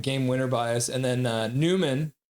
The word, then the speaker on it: Nyman: And then Newman, even though it's spelled Nyman, ends Hmm.